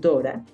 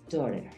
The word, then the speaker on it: daughter: Hay algunos lugares donde lo pronuncian Dora. O puedes decir daughter. Daughter o Dora, de acuerdo a donde estés. En Australia es usual que digan Dora, my Dora.